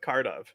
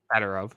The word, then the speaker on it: Kadyrov: The UFC literally had to tell Khabib he needs to stop hanging out with Cardov. Oh, the Khabib is not a good person. Yeah. He's a good fighter. Kadyrov, yeah.